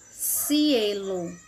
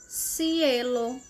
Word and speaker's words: cielo: é o seu a Cielo na Argentina Cielo na Espanha Cielo o outro exemplo o cheiro essas palavras que eu Estou pronunciando é na Espanha que é com a ponta da língua entre os dentes serão serão E aí